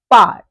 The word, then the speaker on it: parles: Here again you can see we have taken the stem and we have just added es at the end of the stem to get parles, which is again pronounced as parle.